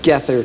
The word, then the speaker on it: Gethard: Every comment on this is just gonna be Gethard jokes, but it's pronounced Gethard for the record.